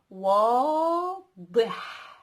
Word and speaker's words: واضح: Clear, obvious in Arabic means one word, which is واضح. So you have the wa first, wa, because we have an wa, and then we have dih.